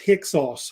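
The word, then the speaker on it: Hyksos: there's different sources on the hicka it us pronounced hick sauce I guess how they easily say it which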